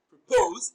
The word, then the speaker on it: propose: Propose is a bisyllabic verb and it is stressed on the second syllable. Propose. Pose is pronounced louder and longer.